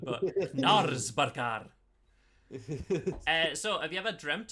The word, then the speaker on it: Knaresborough: Why did you pronounce Nalsborough like it was like some sort of like town in Norway? It sounds like it should be, shouldn't it? It's Even though England- it's not. It's in England.